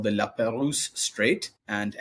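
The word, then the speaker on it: La Pérouse: It's separated by a narrow body of water called the La Peruse Strait and L P E R O U S. La Peruse, a French explorer.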